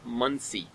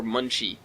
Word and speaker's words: Muncie: traveling north east of Muncie or Munchie if you want to pronounce it like that like lungi please come forty-nine rail